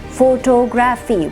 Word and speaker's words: photography: second syllable photographer and then you have photography not photography because when we say photography what are we doing we're giving equal stress to all syllables that's not the way it's done in english it's